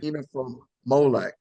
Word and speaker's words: inafa'maolek: So tomorrow values, there's a word called, and please don't kill me with my pronunciation, but Okay. inafa'maolek.